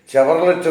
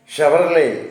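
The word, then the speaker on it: Chevrolet: ചില ആൾക്കാർ പറയുന്നത് കേൾക്കാം ചെവർലെറ്റ് എന്ന് പറയുന്നതാണ് ചെവർലെറ്റ് എന്ന് പറയുന്ന വണ്ടി അതിന്റെ സ്പെല്ലിങ് അങ്ങനെ ചെവർലെറ്റ് അങ്ങനെ പറയാം പക്ഷേ അതിന്റെ യഥാർത്ഥത്തിലുള്ള ഉച്ചാരണം എന്ന് പറയുന്നത് ഷവർലേ എന്നാണ് ഷവർലേ എന്ന് ആണ് അത്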